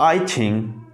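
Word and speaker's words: 爱情: तो हमारा जो अगला वर्ड है 21, तो उसकी जो प्रोनाउंसिएशन वो ये है कि आई छिंग।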